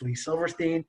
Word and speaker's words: Lee Silverstein: bit more to it okay my name is pronounced lee silverstein if i can help you with your career